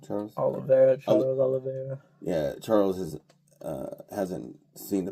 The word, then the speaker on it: Charles Oliveira: Charles Oliveira.